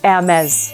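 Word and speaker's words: Hermès: So the H, when it's in the very front of a word in French, goes invisible. It's like, again, you don't see it, especially if it's in front of a vowel.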